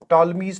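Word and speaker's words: Ptolemy: चलिए, तो यहां पर हम यूज करने वाले हैं that is टॉलमीज theorem. P silent है क्योंकि मुझे दिखा एक साइक्लिक क्वाड्रिलेटरल।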